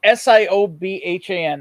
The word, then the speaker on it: Siobhan: that that name uh Siobhan Siobhan always gets me because it's spelled with a B it's like s-i-o-b-h-a-n it's Siobhan and I'm like I'm